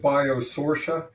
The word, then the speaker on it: Biosortia: Uh, it's a pleasure to be here and, uh, we pronounce it Biosourcia, but as long as people find us, we're happy about that.